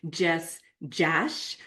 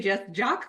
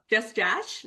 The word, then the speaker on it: Jess Jasch: I'm super excited for you to meet Jess Jash, which rhymes with cash. And I always want to say Jess Jock, but she's like, no, it rhymes with cash. And I'm like, oh, Jess Jash.